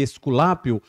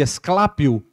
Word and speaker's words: Esculápio: A variação do nome dele é de acordo com a pronúncia, né? O grego não é exatamente assim, mas transliterado para o nosso português chama-se Esculápio, outro chama de Esclápio, que era o sacerdote do